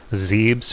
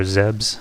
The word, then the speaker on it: Zebes: So here we are on Zebes or Zebs. I've heard many different pronunciations. I've always called it Zebes. I think it would always be that for me. But I'm pretty sure they say it differently.